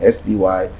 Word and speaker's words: Spydaman: So it's Spydaman, Spydaman. Spy, put your eyes on me.